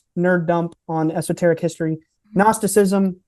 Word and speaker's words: Gnosticism: dump on esoteric history gnosticism that's g n o s t like it it's it sounds like it's spell with an N but it's with a silent gnosticism is basically the